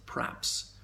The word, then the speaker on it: perhaps: And there again, in the word perhaps, people sometimes elide the E and pronounce it praps.